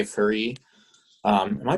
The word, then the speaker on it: Ferree: chamber orchestra and j fari um am i pronouncing that right jay because sometimes people never okay it's not like fairy fairy okay um is